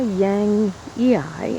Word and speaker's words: yangii: this is my Russian sage pronounced Salvia Yang Yi in the scientific name it was reclassified in